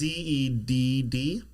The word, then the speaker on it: Zedd: Or is it just a Z pronounced Zed? It's Zedd.